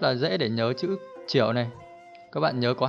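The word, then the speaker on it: 九: Trong tiếng Trung đọc là chiểu, chiểu, chiểu.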